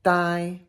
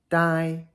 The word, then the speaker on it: 呆: Here's first tone, die, die, and it can also be pronounced I.